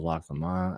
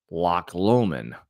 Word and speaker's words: Loch Lomond: Am I going with the, as Paul wanted me to say before, it's pronounced Loch Lomond. Loch Lomond. Okay, not Loch Lomond. Okay, Loch Lomond. Not like Greg LeMond.